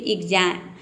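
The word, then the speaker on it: exam: के बाद वॉवेल हो, तो वहाँ पे एक्स को हम आधा क और ज प्रोनाउंस करेंगे। जैसे कि एग्जाम, यहाँ पे देखिए ई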